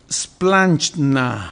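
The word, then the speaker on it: σπλάγχνα: Entrañable es es más fácil la pronunciación es splanchna. Ay, parece así como como plancha, pero así como así medio ruso, ¿verdad?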